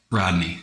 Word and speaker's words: Rodney: And one of my students, Rodoni-san, we say Rodoni-san, but how do you pronounce properly? Rodney. Okay, we say Rodoni.